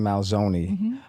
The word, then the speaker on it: Manzoni: Susan, before you became Susan Malzoni, tell us about who Susan Heron was. Ah, good. You pronounced it well.